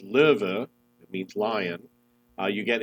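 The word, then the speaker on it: Löwe: tier viii premium tank the low which is pronounced liver it means lion you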